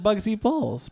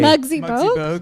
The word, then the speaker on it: Muggsy Bogues: If she was super tall, What if she's like Bugsy Bowles? What? I can't. I'm mispronouncing things all day. Muggsy Bogues?